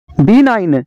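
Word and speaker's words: benign: का जी साइलेंट है बीना बीना का मतलब है रहम दिल बीना का जी साइलेंट है रेन रेन का मतलब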